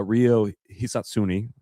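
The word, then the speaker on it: Ryo Hisatsune: Whereas like on Saturday, Rio Hisatsuni, I got that pronunciation right.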